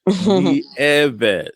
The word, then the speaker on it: Nieves: Nieves.